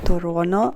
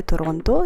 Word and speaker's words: Toronto: на острів toron Islands я виявляється правильно вимовляти тороно а не Торонто я це дізналась коли